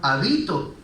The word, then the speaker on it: habito: en la palabra, pero ya no se pronuncia y no significa lo mismo. De hábito nos queda habito, y habito significa otra cosa totalmente diferente.